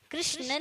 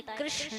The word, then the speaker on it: कृष्ण: कृष्ण नहीं होता है, कृष्ण होता है।